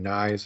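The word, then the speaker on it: Knies: fresh in people's heads I believe it's Matthew kniv is how you say his name um like KN okay I mean he's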